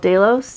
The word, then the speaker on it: Delos: Now Mykonos is an island, and right next to Mykonos there is an island called Delos, D-E-L-O-S. That's how our tour guides there have pronounced that.